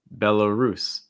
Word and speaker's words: Belarus: um our next one belarus belarus stressing at last syllable belarus belarus um followed